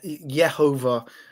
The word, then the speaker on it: Yehovah: to spell it but it's the ye sound rather than a yah sound so even theophoric names have a um the that je yehovah um pronunciation within them